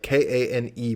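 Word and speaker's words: Kean: uh i went to kane university up in union new jersey i went to stephen sorry sorry good i was gonna say you're you're saying kane like k-a-n-e but it's spelled k-e-a-n correct yeah is that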